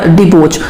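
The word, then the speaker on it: debauch: तो वो हो गया डिबोच। अब देखो इसको ऐसे प्रोनाउंस करो, दबोच लिया।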